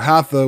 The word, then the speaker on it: Hatha: what that means how the first syllable the word Hatha which is composed of the syllables ha meaning the Sun and thaw meaning the moon the object of Hatha